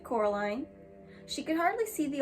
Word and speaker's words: Coraline: They kept calling you Coraline, not Caroline. Not Caroline at all."